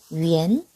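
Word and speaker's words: 元: 위엔은요, 발음이 이렇게 돼요. 위엔, 위엔.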